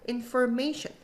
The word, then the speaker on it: information: Information 앞에 강세 있는 거 contact 해볼까요?